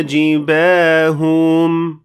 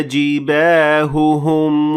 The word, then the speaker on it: جباههم: يوم يحمى عليها في نار جهنم فتكوى بها جباههم. Here I pronounced only one ha, maybe a bit longer, but I certainly didn't pronounce both ha's properly.